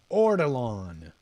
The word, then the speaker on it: ortolan: Maybe that's not how you pronounce it. Give me a sec while I pull this up. Ortolan.